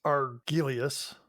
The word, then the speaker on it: Argelius: It's Argelius. Argelius? Yeah. We'll get corrected no matter how you pronounce it, Dana.